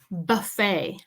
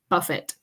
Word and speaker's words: buffet: way to say drink all right number five buffet buffet remember we have all you can eat